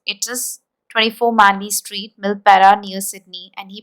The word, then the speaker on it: Milperra: is 24 Mani Street milpera New Sydney and he pronounced the word here now here you have observed one thing that when he pronounced that word he pronounced r word as ah so that is a